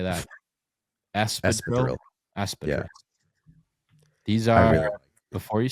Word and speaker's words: espadrille: Espadrille.